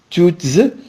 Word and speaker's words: toutes: Il s'agit du féminin pluriel et on dit toutes, c'est il y a une liaison, par exemple, toutes ensemble.